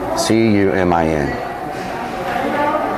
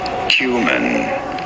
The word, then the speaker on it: cumin: Cumin. You do want to stress on the first syllable, on the Q syllable.